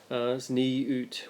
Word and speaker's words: Tzniut: But they do believe in a concept of zniut, which is it's spelt Tzniut.